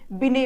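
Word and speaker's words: Binet: करते हैं वो अल्फ्रेड बिने बात करते हैं ठीक है इंग्लिश में टी होता है लेकिन ये साइलेंट होता है अल्फ्रेड बिने जो है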